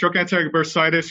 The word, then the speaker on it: trochanteric bursitis: regenerative medicine and a condition called, is it trochanteric bursitis? Am I saying it right? Yeah, it's trochanteric bursitis or greater trochanteric bursitis, yes.